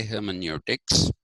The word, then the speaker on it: hermeneutics: calling it heroics but it is not necessary that we we use the German variation of it if it was a